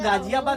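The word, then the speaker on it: Ghaziabad: कहीं का घ का उच्चारण हो रहा है, यहाँ तो गाजियाबाद लिखा गया है ना।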